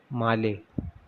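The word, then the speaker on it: Malé: मालदीव्स जो है हमें एक कंट्री और देखने को मिलती है, हमारी नेबरिंग कंट्री, जिसकी कैपिटल क्या है, माले, ठीक है। इट इज़ नॉट मेल, इट इज़ माले, इसका जो प्रोनाउंसिएशन है वो माले है, ठीक है।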